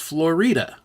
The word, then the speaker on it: Florida: Durango and it's spelled like Florida but it's pronounced Florida because again the Spanish influence you know which